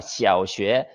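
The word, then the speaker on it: 小学: 자, 초등학교를 중국에서는 시아오슈에라고 합니다. 시아오슈에.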